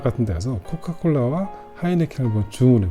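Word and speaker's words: Heineken: 물론 뭐 이탈리아가 H가 무음이긴 하지만 H 발음도 못 하고 하이네켄 있잖아요. 맥주이 하이네켄 발음을 못 해요,이 사람들이. 그래서 H도 들어 있고 K도 들어 있잖아요. 그래서 아이네켄라고 합니다.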